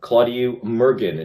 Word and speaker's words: Claudiu Murgan: ottawa book expo with sci-fi and fantasy author claudio mergen did i pronounce that correctly perfectly thank you okay all